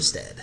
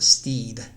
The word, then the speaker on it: Stead: Caleb Stead. Stop! You didn't say his last name before. I used to pronounce it Steed forever.